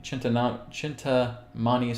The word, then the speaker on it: Chintamani: was looking into chintami Chinta Mania Stones there's a certain way of pronouncing it chintamani stones and they're something that